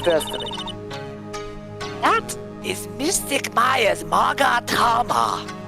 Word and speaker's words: Magatama: That is Mystic Maya's Magatama. Don't let her fool you into pronouncing it any other way. That is the only correct way to pronunciate it.